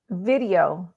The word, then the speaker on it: Vidyo.ai: Video.ai. And I think it's spelled like VIDYO.ai. That's correct.